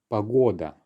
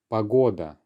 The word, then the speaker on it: погода: weather in russian well that will be pagoda pagoda unstressed or at the start gives us pagoda so questions to ask